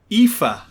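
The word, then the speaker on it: Aoife: it comes from yeah life a-o-i-f-e don't know i mean it's four vowels and it's five letters long pronounced ifa but i also think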